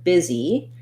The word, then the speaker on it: busy: So looking at the word busy, we have first syllable stress. The biz syllable is longer. And it has the vowel I as in big or did or different, followed by vowel E as in easy and green.